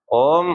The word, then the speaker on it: ओम: तो ओम ओम ऐसे नहीं कर सकते। कैसे करते हैं? ओम ओम ओम। यानी आ और फिर उसको उच्च किया तो उ और फिर आ ऊ